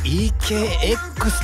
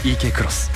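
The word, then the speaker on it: eK X: いいよね三菱 ekx だっけいや X と書いてクロスと読む竹内君 X と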